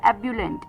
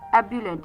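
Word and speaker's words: ebullient: अभी के लिए जो फोर्थ वर्ड आ रहा है श्याम का वो है एबुलेंट। एबुलेंट।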